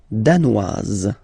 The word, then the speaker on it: danoise: Le Danemark, danois, danoise. Zzz, okay, insist on that. Danois, don't pronounce the final S. Danoise, here you pronounce it.